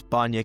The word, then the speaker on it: Bahnya: She is Miss Bana.